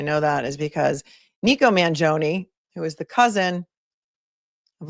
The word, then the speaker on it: Mangione: And we found that, or I found anyway, that his Mangione, they pronounce it Mangione. And the reason I know that is because Nico Mangione, who is the cousin of Luigi, is he's a politician in Maryland.